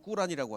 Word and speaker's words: 꾸란: 자, 그러면 그 코란, 이슬람의 경전인 뭐 원래 발음은 꾸란이라고 하죠.